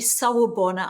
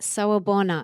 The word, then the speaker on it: sawubona: I think the more we can do that for ourselves, the more we sawubona ourselves, the more we are able to actually show up to other people. Mm, I love that. Sawabona.